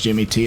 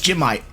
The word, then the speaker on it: Jimmy T: let you guys know it's not actually pronounced Jimmy T it's jimite jimite jite jite j